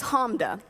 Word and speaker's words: Hamda: give me a nickname my name is Homme de 2 syllables clap it out if you need to thank you thank you